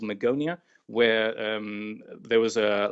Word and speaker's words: Magonia: if we were to go back to the Magonia is that how it's pronounced that's right um Magonia was a fabled